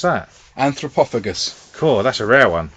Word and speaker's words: Anthropophagus: Oh, how do you pronounce that? Anthropophagus.